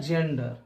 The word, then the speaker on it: gender: जैसे कि एग्जांपल देख लें आप, GENDER, जी के बाद ई, इसका उच्चारण होता है जेंडर।